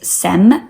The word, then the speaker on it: Sem: You spell that S-I-E-M. And the other name related to SIEM is SEM, S-E-M.